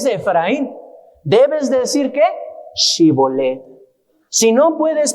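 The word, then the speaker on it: Shibboleth: por qué morían porque ellos no podrían pronunciar qué shibolet shibolet ellos cómo decían cí volet sí volé Nosotros también tenemos nuestros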